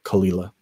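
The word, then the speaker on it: Caol Ila: me about pronunciation and they talked about how kalila was kul and indeed it as but that's if you've seen it fast if you were to take your time to pronounce it that would be qaol qaol laterally how it's written but if you say it fast it's called kalila yes you knowledgeable folks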